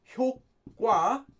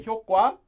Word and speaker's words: 효과: Now, you'll see Korean people pronounce this most often as 효과, but in reality, it's not supposed to be pronounced that way. Just know you'll hear a lot of people say 효과, but it's supposed to be 효과.